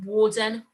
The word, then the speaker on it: warden: and warp okay so we've got warden warts and warp and even though they've got the ar in them we pronounce it as the o r sound right so you're going